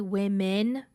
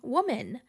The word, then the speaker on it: women: improper pronunciation of women so many people say woman like many women I thought I was